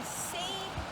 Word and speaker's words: seine: One is called a seine net. It rhymes with strain, and I know you know what strain means. When you make pasta, you strain out all the water. So this is the seine net, and it does